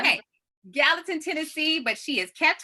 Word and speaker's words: Gallatin: can tell me if I say it wrong, Gallatin, Tennessee. That's right. Okay, Gallatin, Tennessee, but she has kept her Southern charm.